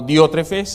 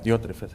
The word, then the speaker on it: Diotrephes: Por ahora quiero que veamos lo que el apóstol nos habla de otro personaje llamado Diótrefes en los versículos 9 al 11.